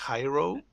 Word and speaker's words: Jairo: you say it properly so my name is Jairo but in English so it's mostly like Hiro like the high row of something but yeah height is